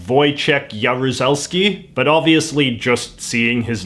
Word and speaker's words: Wojciech Jaruzelski: You pronounce his name like Wojciech Jaruzelski, but obviously just seeing his name in print doesn't communicate any of that.